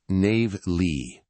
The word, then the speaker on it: Navigli: And just so you know, it's pronounced Navigli. Navigli, got it.